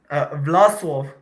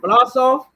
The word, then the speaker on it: Vlasov: I said, how do you pronounce your name? Vlasov. I'm Russian. Vlasov? Mm-hmm.